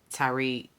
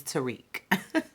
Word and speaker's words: Tariq: Tariq. Have I been pronouncing it like that? It is really not pronounced like that. It's Tariq.